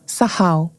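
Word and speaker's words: sakal: não tenho sotaque hebraico soua como sahal se escreve sacal S A K A L mas aparentemente é pronunciado sahal se refere aqueles que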